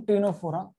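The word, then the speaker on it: Ctenophora: सी is silent here, phylum टीनोफोरा।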